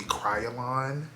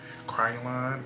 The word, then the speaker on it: Kryolan: Two, instead of using this Roan white paint stick, get the Kryolan. I think that's how you pronounce it, the brand. Kryolan.